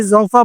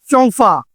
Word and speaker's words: Zhong Fa: तो ये हुई ना शॉकिंग बात, क्योंकि जोंफा मैं आपको इसलिए बता रहा हूँ कि आम पाकिस्तानी जोंफा पढ़ते हैं, लेकिन चाइनीज प्रोनाउंसिएशन में जाएं तो आपको ये कहते हैं चोंफा।